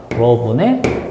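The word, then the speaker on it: ρ: 그래서 로분의 1 요건 읽을 때 로라고 읽으면 됩니다. 로. 알겠죠? 어, 이렇게 읽으면 돼요.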